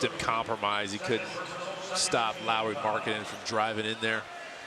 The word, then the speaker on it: Lauri Markkanen: It is Lauri Markkanen. People call, you hear them say Lauri Markkanen. I don't think you'd want your name mispronounced over and over again.